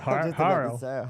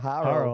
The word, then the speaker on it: Horo: I like the pronunciation of Haro. Haro.